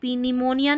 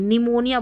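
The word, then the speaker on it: pneumonia: तो इसको देखिए साइकोलॉजी बोलेंगे, पी साइकोलॉजी नहीं बोलेंगे, इसको पी निमोनिया नहीं बोलेंगे, निमोनिया बोलेंगे, पी साइलेंट है।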